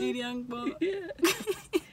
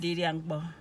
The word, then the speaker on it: di dia mkpo: Didiangpo. Didiangpo. All right, well, there it is, guys. It's I'm hungry, and come and eat. I'm hungry again is abiondong. Abiondong. And come and eat is didiangpo.